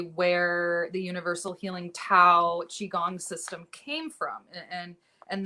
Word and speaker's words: qigong: personally achieve this is through a practice called qi gong which is spelled q-i-g-o-n-g and it's an ancient chinese exercise